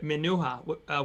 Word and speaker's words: Menuha: And Claudia, sorry for interrupting, but it's pronounced, and I hope I get it right, Menuha, without the C, but it's okay, is what she said.